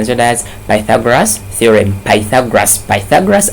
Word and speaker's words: Pythagoras: Pythagoras, and some people pronounce this one as Pythagoras.